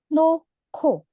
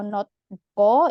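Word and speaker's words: 놓고: Di sini hiet juga sama ketemu giok, berarti dibacanya noko. Noko. Jadi bukan nohgo atau notgo, itu bukan ya, bukan notgo juga. Jadi noko.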